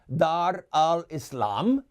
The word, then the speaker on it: Dar al-Islam: Dar al-Islam. That's how you say it with the Arabic accent, by the way.